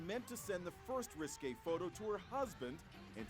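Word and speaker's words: risqué: 29-year-old claims she meant to send the first risque photo to her husband and sent it by accident to the...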